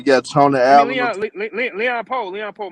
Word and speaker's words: Leon Powe: Yeah, and Leon Powell from the town. He played football with Marshawn Lynch. Yeah. Well, you got Tony I mean Allen. Leon Poe. My fault. I said his name wrong.